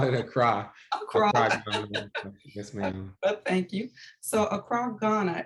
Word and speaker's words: Accra: i know that um now is that acro ghana is that how you pronounce it a cry a croc from us